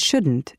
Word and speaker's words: shouldn't: Notice how the T in can't and shouldn't is not strongly pronounced.